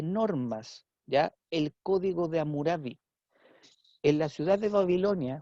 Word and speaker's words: Hammurabi: Y hubo dentro de la historia de Babilonia ya un rey llamado Hammurabi o Hammurabi, pero es Hammurabi la pronunciación.